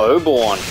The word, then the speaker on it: Oberon: Ah, Oberon. That's how you pronounce that.